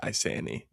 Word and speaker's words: Isanti: I don't really say the t in it though. I say isani. Iani. It's a silent t.